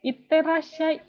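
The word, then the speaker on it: いってらっしゃい: Ada huruf yang double. Kalau kalian bilang iterashai, iterashai. Itu tuh orang Jepang juga bingung gitu. Pelafalannya kurang gitu. Jadi iterashai gitu. Ini ada su kecil, ada ya kecil.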